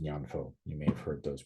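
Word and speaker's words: 念佛: In Japanese, it's pronounced Nembutsu, and in Mandarin, it's pronounced Nyanfo.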